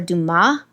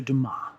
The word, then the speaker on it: Dumas: you kevin it's alexander dumas like illinois the s is silent thank you appreciate welcome alexander dumas so the other one